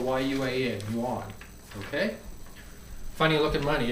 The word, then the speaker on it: yuan: Well, here we have the Chinese, it's spelled Y-U-A-N, yuan.